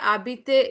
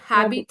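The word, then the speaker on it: habite: We will cut द ई R then it will be एच ए बी ए टी हैबिट। आबीत okay हैबीत नहीं आबीत okay so the first step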